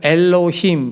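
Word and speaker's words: אלהים: 자, 여러분 저 글씨를 보시게 되면 오른쪽에서 왼쪽으로 이렇게 읽는 건데 그걸 엘로힘 우리가 이렇게 읽어요.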